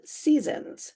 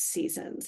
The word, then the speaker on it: SZNZ: of four albums entitled Seasons we had a little controversy in the office about how to pronounce that but we do believe it is seasons and not Seasons there is some question